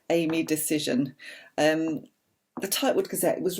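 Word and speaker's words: Dacyczyn: absolutely all of amy dashin i think you pronounce her name no you know it's decision that's right she makes a point of saying that in the book amy decision um the typewood cassette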